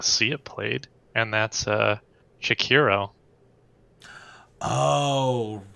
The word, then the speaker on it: Sekiro: And that's Shakiro. Oh, right. Or Sakiro? Is that how you say it? I don't remember. Sekiro?